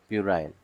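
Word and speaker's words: puerile: उसकी स्पेलिंग याद रखिएगा पी यू ई आर आई एल ई परायल ठीक तो आप बोल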